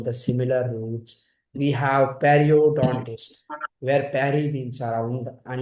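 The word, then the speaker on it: periodontist: Uh the gum from often where we bleed like if you are having py can you pronounce the word perodontist. Perryodontist.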